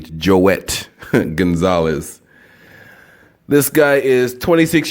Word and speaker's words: Joet: pronouncing his name wrong it is j OE t it's not Joey joette Gonzalez this guy is